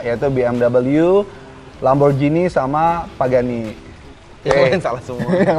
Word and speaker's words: Pagani: Kemudian yang keenam, Pagani. Pagani, dibacanya Pagani juga ya?